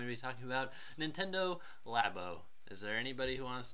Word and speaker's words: Labo: in Koine Greek so let's go with lab oh yeah cuz it's like laboratory or is it like